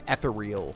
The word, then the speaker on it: ethereal: shouts and eath become ethereal fine but gb it's pronounced ethereal i know i know it